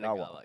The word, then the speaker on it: Yanagawa: Yanagawa.